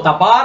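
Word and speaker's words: דבר: So tabar is how many syllable word?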